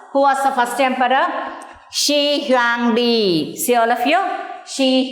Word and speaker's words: Shi Huangdi: Here, the Shi Huangdi, the emperor Shi Huangdi. Shi Huangdi.